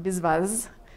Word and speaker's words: Biswas: That's how I pronounce it, Biswas. I think it's maybe more like Biswas, something like that.